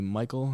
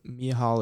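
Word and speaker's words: Michał: and mihal ola shaychek apologize me hal because i was calling you michael i'm pretty sure um in my other video but mia hall is how you say it uh both fighters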